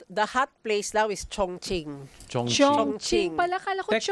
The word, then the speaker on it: Chongqing: The Q is pronounced as CH din.